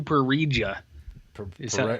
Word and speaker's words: pareja: Solo con tu pareja. PAREJO. Pareja. That's how you say this.